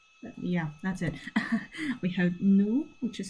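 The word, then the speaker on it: nous: We have nu which is spelled n o u s which means we I think I said this in the first video.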